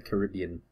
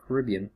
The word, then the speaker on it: Caribbean: Now, interesting fact, the actual pronunciation of it, it's not Caribbean, it's actually Caribbean. Caribbean. Caribbean. I hear that word so often, though, that I think it's wrong, but instinctively I always say Caribbean first, but it's actually pronounced Caribbean.